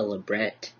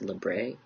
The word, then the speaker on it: labret: based off of French, if it's got an ET at the end, it's usually pronounced as an EY sound and not a ET sound.